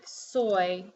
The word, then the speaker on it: soy: but in a word like soy it sounds like a semi vowel so sometimes it's a